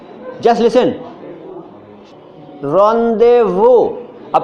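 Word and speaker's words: rendezvous: Just listen, रॉन्डेवू। अब से पूछा जाएगा इसकी स्पेलिंग क्या है, आप बोलोगे रॉन्डे, RONDEVU, रॉन्डेवू। ये लग रहा है? रॉन्डेवू की स्पेलिंग में सबसे पहली बात, ओ नहीं है उसके अंदर।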